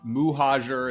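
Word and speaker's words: Mohajer: say your last name uh they usually go with some variation of hoo MOA moayer um MOA muhajer is the kind of the closest and I actually even say it wrong it's technically but I say yeah that's which which is what I said yeah but I say just moer it's easier okay mojer okay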